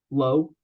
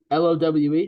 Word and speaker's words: Lowe: name on the raise low ready that's not how you pronounce it but okay okay I'll give us one l-o-w-e how do you pronounce it it's Nathaniel Lowe on the Rangers Brandon Lau on the